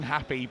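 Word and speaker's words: Happe: He's saying happy, but it's spelled H A P P E.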